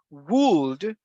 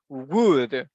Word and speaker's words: would: And the second one, and this one, the letter L is voiceless, so we do not pronounce it, okay? It is the same like in here. For example, we don't say would, we say would, like woody.